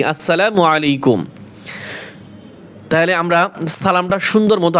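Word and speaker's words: السلام عليكم: তাহলে আমরা যখন মোবাইলে কথা বলবো, অনেকে বলে আসসালামু আলাইকুম, শুদ্ধ মতো দেয় ঢাকার মানুষ, আসসালামু আলাইকুম, আসলা নয়, আসসালা।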